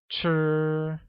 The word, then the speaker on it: 吃: eat translates as 吃, which uses a high level tone on I, making it 吃.